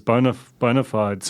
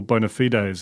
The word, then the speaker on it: bona fides: Not only that, it was literally part of his bio as his bona fides, or bona fides, as Toby Manhome makes me pronounce it.